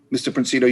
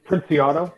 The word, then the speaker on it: Princiato: Princito, you speaking in opposition or neither for nor against? Just opposition. It's Princiato, so I know it's tricky if you don't see it phonetically.